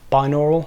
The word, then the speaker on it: binaural: Binaural, yeah, I said it right.